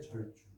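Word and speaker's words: 節族: 제가 말씀을 못 드렸는데 이게 가족이니 그런 뜻으로 쓰일 적에는 족이라고 발음이 되잖아요. 물이다. 일가친 척이다 이럴 때. 근데 이게 가락이라는 뜻일 적게 영어로 리듬이요. 리듬이 요것도 리듬이라는 뜻이 있죠. 그게 같이 리듬이에요. 예. 요것이 리듬이란 뜻일 적에는 사전 사전을 보면 주자로 발음이 되도록 있어요. 그래서 요거로 요거를 절주라 그래요.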